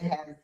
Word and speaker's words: Aitch: You can find me the H. And a lot of times we have to spell it right. My last name is spelled Ai T C. It's not the letter, it is actually a word.